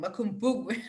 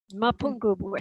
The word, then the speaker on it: Mapungubwe: Makumbugwe. Please pronounce that for me. Mapungubwe.